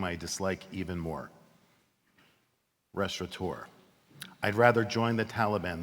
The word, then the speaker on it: restaurateur: And just to make it extra difficult for us, they went and took the N out of the word, restaurateur, so it's impossible to pronounce.